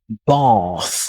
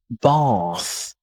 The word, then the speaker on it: bath: In words like bath, bath. British tend to say bath with a long R sound, bath. Whereas American tend to say with a small R sound, bath, bath.